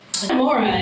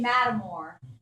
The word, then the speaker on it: Metamora: Metamora is Metamora, correct? No. No, it's Locals say Matamore. Matamore, not Metamora.